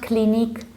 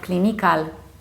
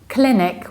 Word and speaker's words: clinic: It's not clinique and it's not clinical, but it's clinic with short E, clinic, and clinical.